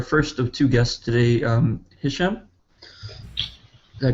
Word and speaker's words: Hisham: All right, and then we will go to our first of two guests today, Hisham. Did I pronounce that correctly?